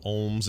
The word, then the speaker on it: olm: A rare Olm salamander, as soon as how you say it, OLM.